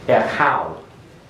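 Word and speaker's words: אֶחָיו: So the yod almost becomes silent in The yod is silent. The yod is silent, and so is the wow. There is no consonantal form there. The last consonant is the, in fact, the only consonant that has sound here is the cheth.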